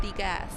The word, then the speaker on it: Degas: What is this war you have with Degas? Degas rhymes with Las Vegas.